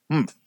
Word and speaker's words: humph: "Humph," said the sand fairy. If you're reading this story aloud, please pronounce humph exactly as it is spelt, for that is how he said it.